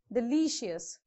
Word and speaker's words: delicious: stress on this okay so from end the second syllable delicious notorious okay this is how you have to pronounce correct vocabulary finally the